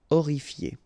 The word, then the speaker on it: Horrifié: Same thing here. You don't pronounce the H. Horrifié.